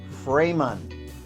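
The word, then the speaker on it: Framon: too good for you so let's see it's f r a m o n f r a m o n frayman that's two names built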